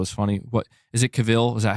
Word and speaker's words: Cavill: what I was trying to say earlier my pronunciation of caval is funny what is it Caville is that how you say it Henry Caville